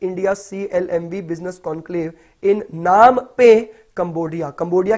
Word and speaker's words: Phnom Penh: CLMV business conclave इन नाम पे Cambodia. Cambodia की राजधानी क्या है, तो कंबोडिया की राजधानी PHNOM PENH है। तो इसको क्या बोलते हैं, तो पी साइलेंट है तो नाम पे बोलते हैं।